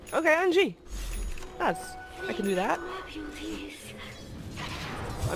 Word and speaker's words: Anji: name and the team the Jane Angie is like a G sound brother and G & G okay Angie I can do that